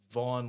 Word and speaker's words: Vaughn: It's Vaughn, like Vaun.